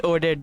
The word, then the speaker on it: Odette: No, it's Odette. They're pronouncing it in a way, so I think you are hearing it like wrong.